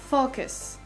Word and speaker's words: focus: C'est focus. Voilà comment ça se dit. Focus. En mettant l'accentuation sur la première syllabe.